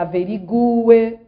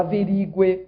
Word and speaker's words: averigue: A pronúncia é que ela averigue e não que ela averigue, como escutamos por aí.